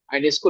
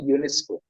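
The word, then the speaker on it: Ionesco: एन एस सी ओ आईनेस्को लोग बोलते हैं लेकिन उच्चारण फ्रेंच में यूनेस्को यूजीन यूनेस्को तो उनकी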